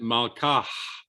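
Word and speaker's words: מלכה: So the word really means her king, melech shalach, and you pronounce it malkah. And note that I aspirated that final syllable.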